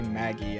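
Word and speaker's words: Maggey: However, the defendant's name is actually spelled Maggie, the Y at the end instead of the IE. It's so weird, like trying to say Maggie and Maggie, and they're both pronounced the same.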